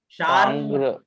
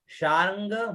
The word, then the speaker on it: शार्ङ्ग: ये जो र है ये हल्का र है और ग है ना। शार्ंग मायुध, शार्ंग, यहाँ ग का भी अंग का भी और ग का साथ में उच्चारण होगा। शार्ंग, शार्ंग। अगर शार र पूरा बोलोगे तो छंद भंग हुआ ना।